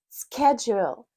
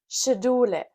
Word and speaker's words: schedule: And now, Germans see S C H and go full German mode. So, instead of schedule, schedule, they say "Schedulle."